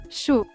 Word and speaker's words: Chaud: But how's it pronounced? Chaud.